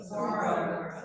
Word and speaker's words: Saguaro: Saguaro.